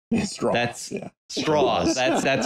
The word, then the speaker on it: Strauss: machinations of Strauss or as he keeps saying to everybody in the movie It's straws that's straws that's that's how you